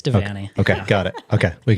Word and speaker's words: Devanney: You pronounce your last name Devanney? Yeah, it's Devanney.